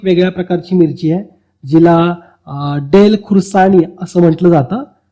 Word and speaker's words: Dalle: सिक्कीमची एक वेगळ्या प्रकारची मिरची आहे, जिला डेल खुर्सानी असं म्हटलं जातं. थोडं सोपं आहे लक्षात ठेवायला. डेलचे लॅपटॉप असतात, पण स्पेलिंग वेगळं आहे. बरं, स्पेलिंग इथं DALLE आहे.